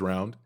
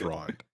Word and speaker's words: Rond: carve the lands and just say his name's round that would be funny to me but no it's Rond I mean it's our